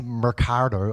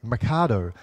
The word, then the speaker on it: Mikado: I'm like, no, I didn't say Mercado, I said Mikado. There's no R in there.